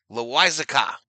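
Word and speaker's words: Loáisiga: It's pronounced Loiza, Loizaca.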